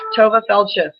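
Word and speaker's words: Tovah Feldshuh: Tova Feldsha, am I pronouncing that correctly? Yes, Tova Feldsha.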